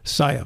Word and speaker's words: Czaja: making it up right you got it that's pronounced Saya Saya very good sir hey uh how long have